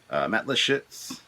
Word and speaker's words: Lischitz: And the fact that I have Matt Lischitz, that's how it's pronounced.